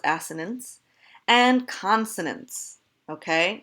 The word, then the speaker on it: assonance: yes that is asked ha ha ha it's pronounced assonance and consonance okay not consonant consonants so look